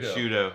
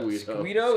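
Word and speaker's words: Sciutto: How do you say his last name? Shudo. Shudo. Okay, that's like pudo. Okay, on the list of things that you mispronounced, uh, Squido is still beneath Borisua.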